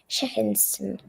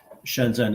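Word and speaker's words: Shenzhen: A girl from Sheinston. Shenzen.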